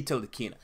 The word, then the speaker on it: Ntilikina: did, but I think the N is silent, and I believe it is Ntilikina. Maybe it's Ntilikina, but it should be Ntilikina.